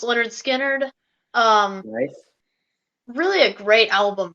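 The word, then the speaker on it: Lynyrd Skynyrd: have on my list is pronounced Leonard Skynyrd um really a great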